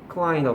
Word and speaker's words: Klein: Klein이라고 발음하죠.